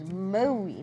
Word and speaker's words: Maui: make sure it goes Maui not Maui so you make your mouth a little bit tighter and it sounds like